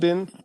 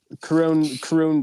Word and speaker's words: Khruangbin: Khruangbin? Do you know? Khruangbin.